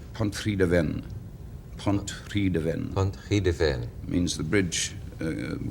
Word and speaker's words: Pontrhydyfen: How do you say what looks like Pontrhydyfen? Pontrhydyfen.